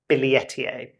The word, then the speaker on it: Billietiae: was on Instagram, and she said, actually, if it's based on my name, it would be Philodendron Billietiae. So that's the kind of more correct pronunciation, if I'm not mistaken, basically.